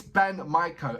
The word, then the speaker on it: BAND-MAIKO: He said it's BAND-MAIKO, and he's putting my-ko.